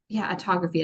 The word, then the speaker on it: autophagy: He explains how H2 selectively targets the most damaging free radicals, what autophagy is, and autophagy is how you say it, and why hydrogen